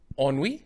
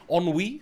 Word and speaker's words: Ennui: Ennui? Ennui, yeah. I pronounced it correctly. Well done. Thanks I'm for. proud. Even I am proud. Ennui, like Henri, the football player.